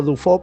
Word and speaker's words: Dufaux: Rosinski y Jean Dufault, que se escribe Dufaux, pero lo leo Dufault porque se lee así, no sé, o me imagino que se lee así.